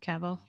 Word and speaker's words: Cavill: cavill did i say it right this time cavill yeah affleck is six three so he won